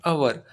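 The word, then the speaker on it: hour: जैसे यहाँ पे एच है, लेकिन आप हम उसको क्या प्रोनाउंस करते हैं, अवर, अ, ऑनेस्ट का ऑनेस्ट।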